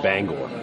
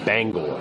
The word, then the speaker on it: Bangor: it itself is like 4 hours from like Banger main you know or Bangor or however you're supposed to pronounce that it's actually pronounced Bangor bang Bangor bang Bangor well I'm looking at a I